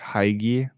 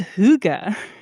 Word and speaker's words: hygge: And it's like, "No, it's hygge," which is very counterintuitive if you don't know Danish, but, Mhm. yeah, if you ever see that in the future, it's hygge.